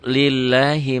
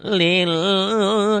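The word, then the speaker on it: لله: Lillahi ma fis samawati wa ma fil ard. Tekanannya gitu. Lillah, L-nya double aja, jangan lil, jangan lebay ya.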